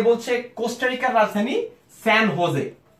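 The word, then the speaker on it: San José: আশির আলম আরেকটি সঠিক উত্তর দিয়েছে, সে বলছে কোস্টারিকার রাজধানী স্যান হোজে। এই যেটা কিন্তু হয়ের মতো উচ্চারণ হয়, স্যান হোজে, যেমন হোজে মরিনো।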